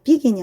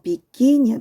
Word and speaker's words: begin: 더 쓰고 ing 붙이고 여기도 begin이 아니고 begin이야. begin. 두 번째 여기에 강세가 들어가고 그럼 강세 모음 다음에